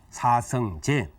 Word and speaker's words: 사성제: 그러나 이제 우리가 보통 진리다라고 할 때는 체라고 하지 않고 제라고 발음을 하죠. 사성제.